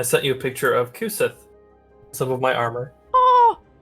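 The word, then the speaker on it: Cú Sídhe: His name's Kusith. And he's adorable. This is an Irish name. Huh? It's spelled C-U space S-I-D-H-E.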